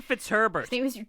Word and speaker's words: Fitzherbert: the time but his name is Eugene Eugene fitzherbert God damn it it's Herbert which is a lot of syllables in your mouth but just get it